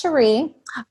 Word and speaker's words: Cherie: And just real quick, it's actually pronounced Cherie.